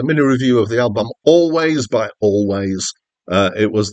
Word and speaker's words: Alvvays: two v's in the middle but apparently it's pronounced always and they spelled it differently because there was